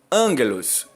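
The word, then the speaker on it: ἄγγελος: né que seria o sujeito da oração Então angelos essa é a expressão correta o o gama ele é pronunciado como guimel do hebraico né ele o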